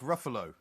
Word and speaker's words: Ruffalo: that question it's mark ruffalo mark ruffalo yeah i've never heard of mark ruffalo i've never heard of you either that rhymes with gruffalo as far as i'm